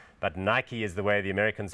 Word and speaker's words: Nike: that particular brand South Africans sometimes call it Naik but Nike is the way the americans pronounce it is of course named after one